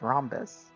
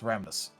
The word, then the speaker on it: Ramdas: The one that really gets me is Rhombus. Ramdus. Oh. It's Ramdus. Yeah.